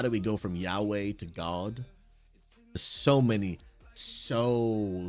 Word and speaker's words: Yahweh: I mean, we think about Yahweh now, we've kind of put some syllables in there that originally was actually this Y, W, and an H.